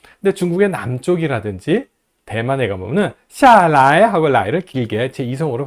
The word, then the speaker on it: 下来: 下来, 下来, 下来 하지 말고요, 下来 라고 라이를 경성어로 발음합니다. 북경이라든지 동북 쪽에 표준어를 정확하게 구사하는 쪽에서는 방향보호를 경성어로 확실하게 발음을 해줘요. 근데 중국의 남쪽이라든지 대만에 가보면은 샤라이 하고 라이를 길게 제2성으로 발음합니다.